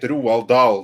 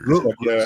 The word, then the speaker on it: Roald Dahl: way that I say it, Roald Dahl, that is the proper pronunciation. That's why his name is so weird. Roald Dahl.